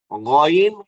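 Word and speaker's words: غ: হলো শুরু থেকে, এই যে গলার শুরু থেকে উচ্চারণ করতে হবে দুইটা শব্দ, গইন খ।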